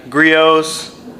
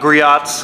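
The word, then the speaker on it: Griot's: really like is the grios glass cleaner here not griots I've been pronouncing it wrong all these years since a local company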